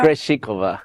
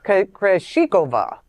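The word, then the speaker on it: Krejčíková: Krejcikova. Krejcikova.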